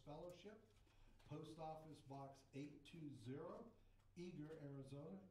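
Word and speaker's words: Eagar: Post Office Box 820, Eager, Arizona. Eager is spelled E-A-G-A-R, and 85925.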